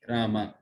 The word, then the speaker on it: राम: उसमें आकार होनी चाहिए रामा। तो उसमें कहते हैं हरे कृष्ण कृष्ण कृष्ण हरे हरे, हरे राम राम राम हरे हरे। वो रामा सही संबोधन है, आकार होनी चाहिए, तब वो सही उच्चारण है।